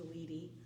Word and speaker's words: Weedy: the last name is Weedy. It doesn't look like Weedy, but it's pronounced like Weedy, at Weedy Garden.